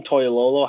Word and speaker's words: Toilolo: Is it Levine Toilolo?